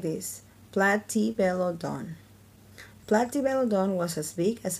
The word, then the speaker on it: Platybelodon: You say it like this, Platybelodon.